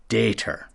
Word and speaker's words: daughter: She had a wonderful broad accent and used a very old pronunciation of daughter, dater. This is how Barnes would have heard it as a boy, growing up near Sturminster Newton. The farmer's woldest dater.